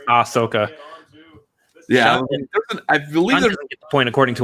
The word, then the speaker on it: Ahsoka: what I said yeah I feel like there's an H in there somewhere I just wasn't certain but it really didn't matter because it doesn't really get pronounced yeah it's ah Sokka